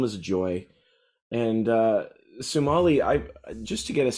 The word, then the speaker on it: Sumalee: Lisa and uh let me make sure I'm pronouncing it is it Somali sumali sumali okay Somali put together sumali wonderful um no thank you both for chatting